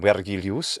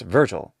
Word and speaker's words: Virgil: use english phonetics but we already have an english-sized version of the name that's traditional in our language and in our literature and it's virgil also there's horus are